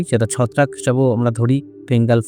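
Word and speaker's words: Fengal: ছত্রাক হিসেবেও আমরা ধরি ফেঙ্গাল ফাঙ্গাল বা ফাঞ্জাল বলে অনেক কেউ উচ্চারণ করছে আসলে যেটা উচ্চারণ হবে এফ ই এন জি এ এল ফেঙ্গাল বা ফাঙ্গাল এই দুটো উচ্চারণ আমরা দেখতে পাচ্ছি এই ঘূর্ণিঝড়ের নাম দিবে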